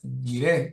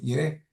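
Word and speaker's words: Jireh: nombre del Señor, eh, Jehová Jaira, Jiré, se dice así, Jiré, Jehová.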